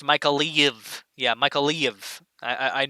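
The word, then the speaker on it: Mykolaiv: areas here first yeah as mother sake says michael leave is pronounced micah leave yeah michael leave i i know it's a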